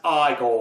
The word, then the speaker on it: Igor: Finds Igor, or Igor. Now it's pronounced Igor.